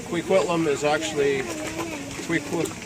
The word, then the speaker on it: Kwikwetlem: new year comes and uh yeah so it's quiquitlam is actually if we put Plum is is how it's pronounced the hunkaminum pronunciation and I just want